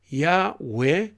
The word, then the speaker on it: Yahweh: While inclined to view the pronunciation Yahweh as the more correct way, underline that, as more correct way.